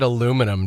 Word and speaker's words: aluminum: You said aluminum, didn't you? Oh, that's right. Yeah. Yeah, you mispronounced aluminum.